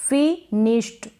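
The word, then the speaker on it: finished: इसको आप पढ़ेंगे फिनिश्ड, क्या पढ़ेंगे फिनिश्ड। अब यहाँ पर ड आपको लग रहा है लेकिन नहीं, जैसे कि एस एच, अगर एस एच आएगा तब भी हम ईडी को क्या पढ़ेंगे, आधा ट पढ़ेंगे, वॉइसलेस होगा वो, मतलब थोड़ा ही साउंड आएगा।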